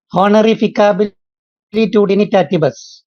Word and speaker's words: honorificabilitudinitatis: I'm not able to pronounce it. Honorificabilitudinitatis.